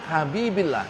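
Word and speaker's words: حبيبِ الله: Kalau kata Rasulullah menjadi sifat dari kata Muhammad, maka bacanya bukan Rasulullah tapi Rasulillah. Habibullah enggak, Habibillah, karena menjadi sifat dari kata Muhammad.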